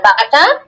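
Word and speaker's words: ب: মিমটা কোথা থেকে উচ্চারণ হবে? ঠোঁটের শুকনা জায়গা থেকে না ভিজা জায়গা থেকে? মিম। মিমটা হবে শুকনো শুকনা জায়গা। জায়গা এই তো। আর বাটা ঠোঁটের ভিজা জায়গা থেকে উচ্চারণ হবে বা।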